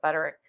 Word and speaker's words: Butterick: people call it Buttrick, some people call it Butterick. I pronounce it Buttrick.